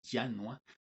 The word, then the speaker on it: Janua: La palabra Janua en latín se pronuncia Janua, significa estación.